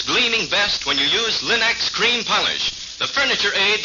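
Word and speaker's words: Linx: Remember to ask for them by name, Linex. It's spelled L-I-N-X.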